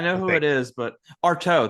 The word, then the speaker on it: Artaud: it is, but Artaud, that's how you pronounce it.